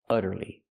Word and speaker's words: utterly: Here we see the u making a short uh sound like cup and up because the u is before a double consonant. That's why it's short. Uh uh u utterly.